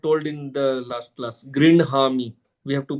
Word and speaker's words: गृह्णामि: So there is a rule which says that Okay. If the hakara is followed by a vargiya last letter, All right. Fifth column. then fifth column, then that letter is pronounced first, and then the hakara comes later.